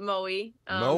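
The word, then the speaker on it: Moe: I have to admit I've never heard of Mo I looked it up looks like maybe uh 90 minutes or so from Melbourne what what's describe your hometown yeah it's a very small town we pronounce it Mo that's where I kind of spent all mo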